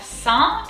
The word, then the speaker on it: Saint: Moving on to the second word, we have Saint, and so here A-I-N-T is un in French. The T is silent.